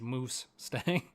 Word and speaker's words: Moose Stang: Thanks, Moose Stang. It's spelled like moose, not like Mustang.